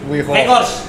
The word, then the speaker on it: Weghorst: Bacanya gimana? Weghorst. Weghorst. Baca kan V.